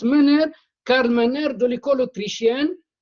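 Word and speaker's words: Menger: golf mer ou bien mer mais ça se prononce menner Carl MERER de l'école autrichienne Lyon Valras avec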